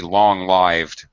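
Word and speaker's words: long-lived: confused myself here oh it is not derived from the verb to live so I guess I'm wrong you can't say that but from having a long life it should be pronounced accordingly so I guess it is supposed to be long lived w wow that's weird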